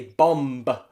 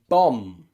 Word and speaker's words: bomb: after the m sound at the end you can see that that b is silent tomb comb bomb now you probably can see a pattern already omb that is when the b sound comes after a consonant especially a strong consonant like m it is normally always